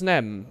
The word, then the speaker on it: Snem: Your name is pronounced Snem. Ah, alright, Snem. I was about to say Sneem again, but that would have been a bit rude, but thank you.